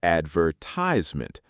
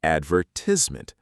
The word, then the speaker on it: advertisement: Americans say advertisement. British say advertisement.